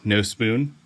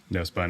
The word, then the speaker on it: Nospun: members of the band no spoon I had to look up how to pronounce it because I kept wanting to say no spun I'm sure you get